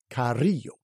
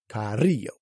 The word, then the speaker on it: Carrillo: a double r and a double L it's Carrillo Carrillo c-a-r-r-i-l-l-o so it's got both there and number